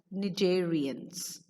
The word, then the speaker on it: cnidarians: have a C there C is silent over there okey pronounce it as Nigerians the second one is